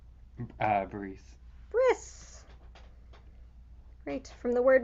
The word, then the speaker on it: bris: Bris. bris. Great. From the word meaning covenant. Again, that's the Ashkenazi Sephardi pronunciation being weird.